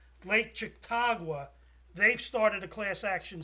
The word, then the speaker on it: Chautauqua: So the other thing is there's a lake, and I'm terrible with Indian names, Lake Chautauqua. They've started a class action suit. Is that how you say it? Chautauqua.